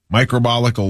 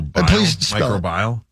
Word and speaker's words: microbial: Isn't it micro microbial? Microbial. Please spell it. M I C R O B I A L. Yeah, there you go.